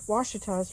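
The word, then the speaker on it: Ouachita: here, Washitas right here, which looks like it's spelled Wachita, but it's an Indian name, and so I went and looked it up, and it does seem to be Washita. That's how they say.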